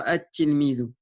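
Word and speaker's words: التلميذ: c'est une lettre shamsiya, mais on ne prononcera pas le lam et on dira at-tilmidu.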